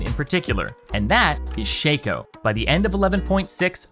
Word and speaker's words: Shaco: you say his name because his name is shaco and his clone is fakeo not shaco and fako anyway nidalee is another pick who